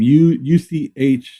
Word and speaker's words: Uche: UCHE Uche. Oh, Uche?